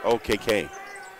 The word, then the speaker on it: Okeke: It's spelled Okeke, but it's pronounced OKK.